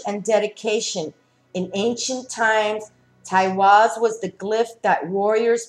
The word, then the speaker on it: Teiwaz: And the name of this rune is, if I'm pronouncing it correctly, Teiwaz, and it's spelled T-E-I-W-A-Z.